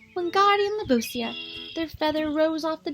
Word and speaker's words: Wingardium Leviosa: "You're saying it wrong," Harry heard Hermione snap. "It's Wingardium Leviosa. Make the gar nice and long."